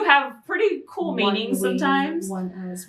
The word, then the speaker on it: ONEUS: How do you even pronounce them? One Us. And then there's another group which is connected to them called One We. Here's the thing. I would have pronounced it as Onus and Oni.